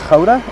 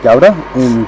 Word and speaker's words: Gouda: Gouda, that's how it's pronounced, but Gouda for the rest of the world.